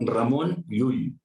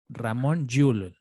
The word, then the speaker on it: Ramon Llull: a raimundo lulio bueno para empezar como se pronuncia en catalán que renunciar la ramón llull ramon llull como ya saben estamos hablando a montjuïc es